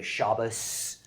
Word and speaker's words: Shabbos: my grandparents would say shabbos that's an ashkenazi right sound shabbat right is the sephardic sound it's kind of ironic